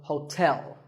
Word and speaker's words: hotel: number 12 is hotel there are two syllables hope and tell like the English word tell as in tell me the stress is on the second syllable so hotel a related word is